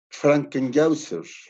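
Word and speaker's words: Frankenhäuser: Tuve un alumno que sabía alemán y me dice que se pronunciaba Frankenhauser.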